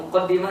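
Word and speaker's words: مُقَدِّمَة: Muqaddimah di dalam kitab Muqaddimah fi Ushul Tafsir karya Syekh Ibnu Taimiyah, beliau mengatakan muqaddimah dibacanya muqaddimah atau muqaddamah boleh. Muqaddimah karena mendahului yang lain. Muqaddamah karena didahului oleh, jadi dahulukan daripada yang lain.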